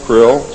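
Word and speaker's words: Krll: His name and title was his omnipotent highness krill, pronounced krill, spelled K R L L or C R L L.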